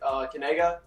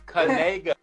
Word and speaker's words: Kanaga: So this is how you pronounce it. It's Kanega. You say it Kanega. Like that? What do you mean by that? See, that's the key. It's Canega.